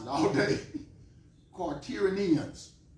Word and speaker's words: quaternions: Quaternions. Quaternions is how you pronounce that word.